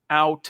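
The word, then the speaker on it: Outten: by the name of justin out and like ow that hurt justin alton 16-year coaching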